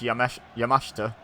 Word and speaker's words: Yamashita: Now, I've decided it's pronounced Yamashita, like Takeshita in AEW.